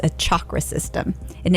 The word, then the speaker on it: chakra: for you Chak are a lot of people will say chakra but it's a hard Chuck like you're saying chalkboard it's a chakra system and it's Sanskrit